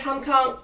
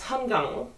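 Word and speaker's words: Han Kang: I read Hong Kong. It's actually I pronounced that name wrong. It's Hungang. That's what I was I was told.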